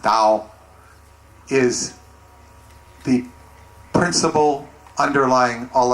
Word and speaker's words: Tao: doll the doll or Dao in English which pronounced Dao is the principle underlying all of the principles